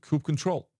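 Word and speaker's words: kubectl: control and Coupe control this is how we pronounce Coupe control in this in this stream uh when you're talking to other people you can tell whatever you want here we pronouncing this as a coupe control so Coupe controllers come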